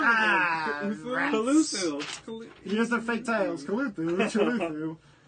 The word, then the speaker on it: Cthulhu: But Cthulhu. You said it wrong again. rats. Cthulhu.